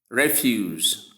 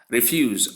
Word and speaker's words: refuse: We have the spelling as R-E-F-U-S-E, but the pronunciations as for the noun refuse. We have resound, S, short S sound, for sound, U sound, long U sound, and S sound to give refuse, then meaning garbage, that